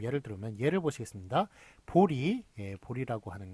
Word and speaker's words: 보리: 그런데 이제 보리라고 그렇게 여기는 리라고 아예 발음도 아예 다르게 그냥 이렇게 발음을 해버리네요. 자, 그런데 이런 것 이것만 맞게 합니다. 그래서 보제가 아니라 보리라고 그렇게 하는 것만 맞습니다.